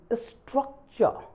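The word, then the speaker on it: structure: similar in स्ट्रक्चर स्ट्रक्चर आप पढ़ेंगे इसे स्ट्रक चर स्ट्रक्चर वाली बात नहीं तो हम पढ़ते हैं स्ट्रक चर र कहां गया आर साइलेंट हो गया क्योंकि आर के पहले यू है जो कि भावल साउंड है है कि नहीं सो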